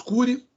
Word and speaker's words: curiae: ele chama né aí cury e a pronúncia é essa né cury e cury cury no latim fica dessa maneira então amicus curiae a